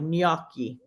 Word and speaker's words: gnocchi: ones but g-n-o-c-c eyes oh okay okay it's pronounced like NY nyaki okay see that's why I didn't recognize okay because I pronounce it gnocchi okay yeah yeah okay okay so we're gonna